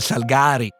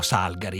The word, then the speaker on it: Salgari: a dire il vero noi dicevamo Salgari è in cuor mio io continuo a dire Salgari Anche se so che la pronuncia corretta è Salgari ha a che fare